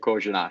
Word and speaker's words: Korenar: And he said Korenar.